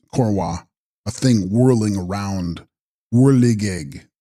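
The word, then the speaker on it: འཁོར་བ: Text: Korva, pronounced Korwa, a thing whirling around, whirligig, Sanskrit sansara or samsara.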